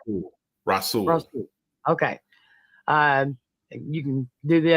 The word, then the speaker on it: Rasul: We have our defensive players of the week for week 14, and they are Raul Douglas. Is that how you say it? Rasul.